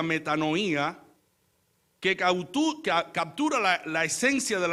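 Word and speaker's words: μετάνοια: En términos hebreos significa cambiar, pero también en griego proviene arrepentimiento de una palabra que se pronuncia metanoía, que captura la esencia del arrepentimiento bíblico, que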